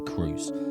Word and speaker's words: Kroos: we go any further sometimes you'll hear Tony referred to as Tony Cruz but apparently the German way to say his name is co now German listeners please